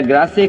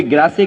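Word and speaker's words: Grasse: France में perfume capital अगर है कोई, तो कोई ग्रासे कहता है, कोई ग्रास कहता है। वो एक प्रोनाउंसिएशन है कि इंग्लिश या फ्रेंच जो भी कुछ है।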